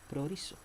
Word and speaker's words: proorizo: traducido en griego como proorizo. Proorizo, que se divide de dos sílabas, en este caso pro, que significa por anticipado, y orizo, que se traduce como determinar. Comprendiendo esto entonces, Javerín, responderemos la pregunta del Javer.